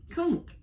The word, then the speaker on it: conch: yeah uh and in it is this conch conk yeah well yeah animal and uh it's a